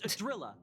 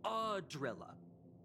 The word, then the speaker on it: Idrila: It's Adrilla, not Adrilla. Well, I mean, pronunciation is key when talking about godlike beings.